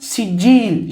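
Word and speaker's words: سجيل: kelimenin kullanıldığını görüyoruz siccil Farsçada taş anlamına gelen seng ile çamur ve toprak anlamına gelen kilden terkip olunmuş Sen kil şeklinde mürekkep bir kelime Arapçada siccil şeklinde telaffuz olunuyor çok pişmiş sert kiremit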